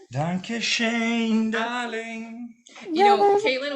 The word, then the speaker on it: danke: No, in German it's danke.